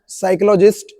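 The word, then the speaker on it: psychologist: साइकोलॉजिस्ट, ये P silent रहता है इसमें, साइकोलॉजिस्ट discovered that there are 2 roots,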